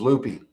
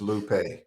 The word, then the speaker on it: Lupe: You know, I from Texas, and so it was Lupe, and she was like, "Bro, it's Lupe."